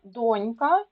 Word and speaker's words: донька: це якийсь безлак запам'ятайте слова донька і доня наголос на перший склад але дочка наголос на